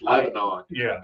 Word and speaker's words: Lebanon: That's how they pronounce Lebanon. Tennessee is Lebanon.